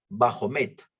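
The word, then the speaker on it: Baphomet: Dios su jefe y por siglos le llaman bajo meta se escribe B a p h o m e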